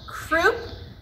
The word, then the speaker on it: croup: always remember this one croup rhymes with poop and the croup is